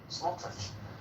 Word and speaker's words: Smotrich: Smotrich? Smotrich.